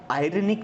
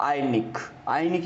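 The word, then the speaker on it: ironic: ठीक है, आयरनिक नहीं बोलेंगे, आयरनिक बोलना गलत हो जाता है। इसका जो सही प्रोनाउंसिएशन रहेगा वो रहेगा, जो र का जो साउंड है वो बिल्कुल साइलेंट रहेगा, आयनिक इसको अपन बोलेंगे।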